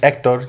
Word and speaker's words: Ektor: I had a friend who would always call me Ekter because my parents in Spanish it's just Ektor. You don't say the H.